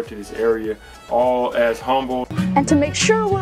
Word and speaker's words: Humble: of people refer to this area all as humble and to make sure we're all on the same page it's pronounced humble with a silent age so what's the cost